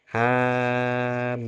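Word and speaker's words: حم: Hamim. Bacanya ngoten nggih. Hamim. Mimnya panjang. 3 kali lipat dari ha.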